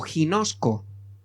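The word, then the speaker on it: γινώσκω: Y la palabra conocer podría traducirse, se escribe como está arriba, y abajo la traducción sería algo como, digamos, fonéticamente sonaría como ginosco, ¿vale?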